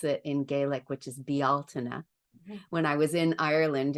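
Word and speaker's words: Bealtaine: a great example and and I learned to pronounce it in Gaelic which is bialtina when I was in Ireland in 2019 and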